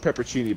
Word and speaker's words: pepperoncini: Pepperoncinis. Yeah, it's they're called pepper. It's pronounced peppercini, but if you look at the word, it says pepperoncini.